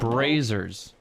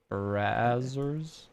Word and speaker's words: Brazzers: No, Was not Brazers. AZZ. That's double consonant, which means it's a soft Azers. Brazzers.